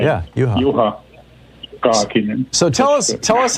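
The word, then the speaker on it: Juha Kaakinen: How we pronounce it in Finnish is Juha Kakinen.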